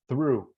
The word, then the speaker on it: through: so the word okay focus on pronunciation in through okay your mouth remember your mouth so through is with the like in the Theta of the Spanish people okay th so through tongue has to go out